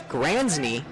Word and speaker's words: Gransny: Behind the plate is Gransny. I figured out that's actually how you pronounce his name at a game.